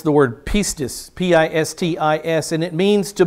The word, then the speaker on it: pistis: Pistevo is how the Greeks would pronounce it. Pistevo, in the noun form, it's the word pistis, P-I-S-T-I-S, and it means to believe.